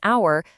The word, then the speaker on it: hour: And we say an hour because the h is silent.